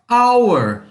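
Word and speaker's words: hour: esse de baixo aqui a pronúncia é our uma hora então quando eu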